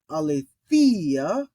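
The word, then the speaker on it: ἀλήθεια: just point out that we have the Epsilon ipsilon uh vowel pair a couple times and that this is pronounced the same exact way as Iota on its own so when we look at tease is that e e t it's the same with alethea e e Thea and P Fister peace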